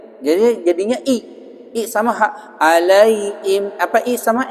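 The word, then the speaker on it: عليهم: Ya, itu bacanya salah tuh kalau begitu. Alaihim. Harusnya alaihim, begitu. Ghairil maghdubi alaihim, begitu bacanya. Orang baca ghairil maghdubi alaihim. Nah, gitu. Kenapa dia bacanya i? Karena apa susah? Karena huruf H, hak besar, itu tenggorokannya paling jauh dari bibir.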